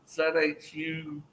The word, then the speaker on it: zhuzh: Yeah, and I'm like, no, it's spelled ZHUZH. It's like zhuzh.